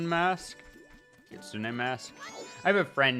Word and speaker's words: Kitsune: Does it only matter if I'm wearing the Kitsun mask? Kitsune mask. I have a friend named Kitsun who is spelled like Kitsune and so I that's literally a song.